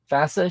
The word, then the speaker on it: FASA: FASA should be pronounced like NASA.